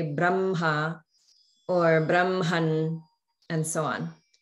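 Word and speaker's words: ब्रह्म: So some people may say it more like either Brahma or Brahma, but there should be a ha sound. The ha should be clear. So it's Brahma, okay?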